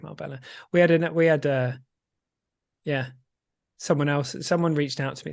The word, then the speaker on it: Marbella: Marbella then, not Marbella. Didn't I say Marbella? It's not spelled like Marbella. It's spelled like Marbella. Yeah, but that's because that's Spanish Y, isn't it?